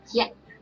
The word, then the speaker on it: ရက်: So here is alphabet ya and symbol at. So we pronounce yet.